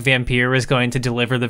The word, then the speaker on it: Vampyr: a French studio, and that's the French word for vampire, so I'm pretty sure that's how the title is intended to be pronounced.